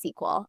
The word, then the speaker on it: SQL: And so someone side messaged me and was like, hey, just for future reference, it's pronounced sequel.